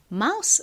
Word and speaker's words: mouse: 가장 끝에 E가 붙어 있지만 얘는 역시 떨거지 소리가 나지 않습니다. 그래서 mouse라고 발음이 되고요. mouse 의미가 뭔가요?